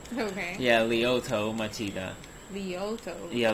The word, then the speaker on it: Lyoto: Lyoto. Yeah, Lyoto. Spelled as Lyoto. Lyoto. Yeah. Machida, and it's like, it rhymes with Vegeta.